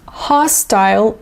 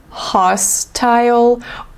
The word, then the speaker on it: hostile: environment by the way this word can be pronounced in two ways you can say hostile hostile or you can say hostile hostel both options work just choose what you prefer and use it so